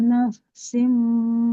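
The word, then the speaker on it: نفس: Summa tuwaffa kullu nafsim ma kasabat wa hum la yutlamun. Di kata nafsi. Nah, di sini fa-nya dulu sempurnakan aliran suaranya baru ke sin ya.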